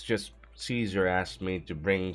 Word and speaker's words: Caesar: don't know any Caesar well technically speaking the pr proper pronunciation would be kaser but in game they call her Caesar what who Cesar I